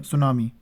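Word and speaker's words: tsunami: या फिर ज्वालामुखी, या सुनामी? तो किस जापानी शब्द इनमें से कौन सा है? आपने सुना होगा टिसुनामी, यानी कि इसे सुनामी टी को प्रोनाउंस नहीं करते, सुनामी बोलते हैं।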